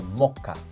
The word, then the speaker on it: mocha: More on the first syllable. So, mocha.